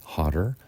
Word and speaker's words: hotter: the comparative is hotter in American English we're going to pronounce this with a d hotter the superlative is hottest